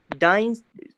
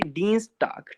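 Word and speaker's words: Dienstag: डाइंस, sorry डीन्सटाग, ठीक है ना? डीन्सटाग। यहाँ पे आई के बाद ई आ रहा है तो ई ही साउंड ले लेंगे, देखो फिर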